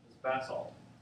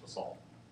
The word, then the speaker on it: basalt: And typically the rock that we get out of mafic basalt. And that's the pronunciation if you're across the big pond. Otherwise, the rest of it just call it basalt.